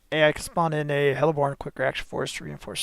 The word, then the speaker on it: heliborne: That's the correct way to say that, heliborne. Like it's one word.